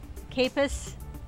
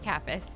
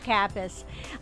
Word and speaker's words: Kappas: I've had Kappas. I said it wrong that time. Kappas. Kappas. I knew as soon as I said it was wrong.